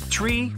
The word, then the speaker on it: tree: get their message through tree 5 ner nah it's not some Mega secret code it's the way Pilots pronounce certain numbers in their pilot English tree stands for three five for five and